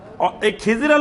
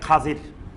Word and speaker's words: খাজির: কিন্তু সহীহ হাদিসে তার নামটা আসছে খাজির। খাজির নামে যেটা আমাদের পরবর্তীতে রূপান্তর খিজির হইছে। কিন্তু এটার সঠিক উচ্চারণ খাজির।